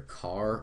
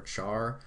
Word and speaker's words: char: is CH h r you can pronounce this either car or Char I prefer car though all right and then